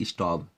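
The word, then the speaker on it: starve: भूखा होता है तो एक्चुअल में से हम आर नहीं बोलेंगे एक्चुअल में ये लिखा है स्टॉप स्टॉप लग ऐसा रहा की स्ट्रॉ बोल रहा हूं लेकिन आर साइलेंट है स्टॉप लिखा हुआ है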